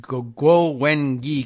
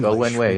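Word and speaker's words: Guo Wengui: I've always said Go Wengi because that's how the way it's written in English. Go Wenwei is how it's pronounced.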